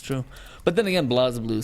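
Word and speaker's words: BlazBlue: We have Blas Blue, Chrono Fantasma Extend. Wait, Blaz or Blaze? Blas.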